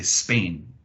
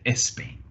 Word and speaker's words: Spain: from a Spanish-speaking background they won't say Spain they might say espain or instead of stop they might go isop or spring they might go ispring it's because this s and consonant sound that we have in English these sounds don't really translate into Spanish because normally there's an e at the beginning of those words even when we talk